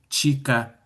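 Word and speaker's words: Chika: Something like c h i k a is chica.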